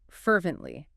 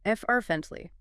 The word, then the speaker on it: fervently: Fervently. Fervently. Fervently. 3 syllables. Stress on the first. Fervently.